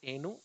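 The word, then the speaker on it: ಏನು: who are you Anu so it's not Yu although some people pronounce it like that it's Anu so what so enu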